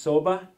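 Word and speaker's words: sobe: And it's pronounced soba, and that's the Slovenian term for bed.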